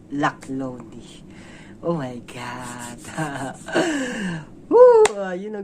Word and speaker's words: Laklone: to pronounce this subtitle i thought this is a luck loan but uh the correct pronunciation is luck lonely oh my god you